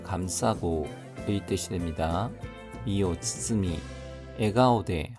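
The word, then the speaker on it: 笑顔: 미오 츠츠미, 에가오데 하면은 웃는 얼굴입니다. 에가오데, 웃는 얼굴로 카오가 가오로 발음이 바뀌었습니다.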